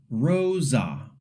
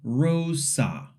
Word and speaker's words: rosa: it like rosa or rosa, sliding the vowels. In Spanish, the R at the beginning is trilled, but for now, you can just pronounce it lightly. The O is a pure O sound.